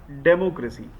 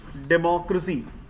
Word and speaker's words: democracy: Like, you have pronounced it as democracy, right? What is the right pronunciation? Democracy, right? तो छोटा सा change है, मतलब हमें क्रेसी नहीं बोलना है, हमें इसे क्रसी बोलना है, ठीक है? और डेमो को थोड़ा सा पिक करना है, डेमोक्रेसी.